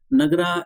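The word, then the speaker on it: Nagara: तो आप आंसर हो जाएगा नगर शैली। ठीक है, नगर शैली, नगरा इंग्लिश में नगरा या नगर शैली, जो भी आप प्रोनाउंस करना चाहो कर सकते हो।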